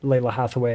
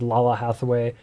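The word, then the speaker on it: Lalah Hathaway: i made lily videos about layla hathaway i said lala hathaway when i did rochelle pharrell i did rachel for all like i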